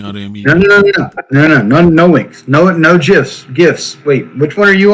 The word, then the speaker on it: GIF: No gifs. Wait, which one are you all? No gifts. That's right. No gifts. No gifts. Only gifs. Hard G is correct.